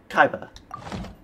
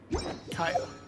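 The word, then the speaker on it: Kaeya: How do you pronounce this guy's name? I keep on forgetting. Kaia? Kaiba. Kaiba? Yeah, Kaiba. Kaia.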